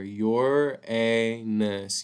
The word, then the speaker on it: Uranus: Saturn Uranus and Neptune that's how it's telling us how to pronounce right here your anus Uranus and Neptune these huge planets